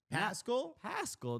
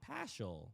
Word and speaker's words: Pascal: It's Val Pascal. Pascal, not Paschal. Right, I got an idea. Take the H out. The H just throws you off.